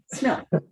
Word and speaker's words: Schmiel: Did I pronounce that name correctly? Smil? Yes. Smil. Okay, Smil.